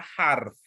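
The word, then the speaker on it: حرف: Nah, kalau kita bahasa Arab itu nyucapnya huruf. Iya. Huruf. Karena ada wawunya kalau kita bahasa Arab. Huruf. Gitu. Ini bacanya huruf, ada wawunya. Jadi agak panjang roknya. Kalau tidak ada wawunya, bacanya harf. Bacanya harf.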